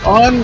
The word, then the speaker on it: OU: or vanor depending on how you want to pronounce it and I'm in Globe Arizona 100 miles east of Phoenix whereas Anthony is all the way in